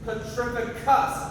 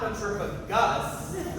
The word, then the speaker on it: Petrificus: see full body finders you said it wrong it's petrificus not P of Gus okay let me try